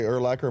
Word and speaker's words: Urlacher: I say Urlacher. My family, the Urlacher side, says Urlacher.